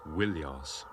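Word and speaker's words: Ilios: troa and more often ilos originally pronounced willos now in this General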